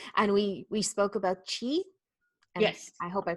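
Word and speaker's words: qi: that you use and we we spoke about Chi yes I hope I pronounced that right yes so that is part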